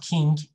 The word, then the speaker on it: king: you doing remember king it's like nng together but there's no g sound maybe just a little bit but not a lot that's important so king